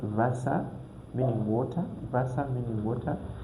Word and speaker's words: Wasser: So W, we read it like V. For example, this word Wasser, meaning water.